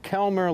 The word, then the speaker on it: Kelmer: say it's Kelmer like Val Kilmer. Yes, exactly. It's just spelled differently.